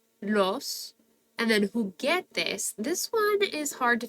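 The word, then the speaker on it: juguetes: going to cut it so that's why the U is in there but not pronounced it's there to protect that hard G sound who get this but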